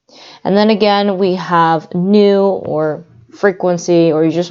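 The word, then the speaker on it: ν: And V, or pronounced nu, is frequency, and that's measured in hertz.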